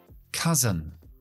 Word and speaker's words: cousin: Primo. Cousin. Cousin. Acentúa al principio. Dejo schwa en la segunda sílaba.